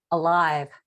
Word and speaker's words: Alyve: Is that how you pronounce it? Alyve.